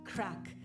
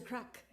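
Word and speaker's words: craic: we're having some good crack okay now crack is different in the united states than it is in ireland so it's it's spelled c-r-a-i-c and it means fun or good times but i'll have to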